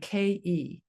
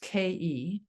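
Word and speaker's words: KHEI: healing, we can in tone the vowel sound ke. It's spelled k h ei and it's pronounced ke.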